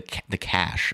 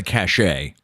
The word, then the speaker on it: cache: Abby says, clean the cache, I believe it's pronounced. Not the cachet.